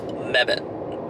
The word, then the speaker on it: Mebane: I finally have an answer, and it is pronounced Mebane.